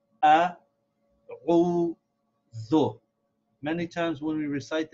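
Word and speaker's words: أعوذ: we should realize that this is three syllables ah whoa though many times when we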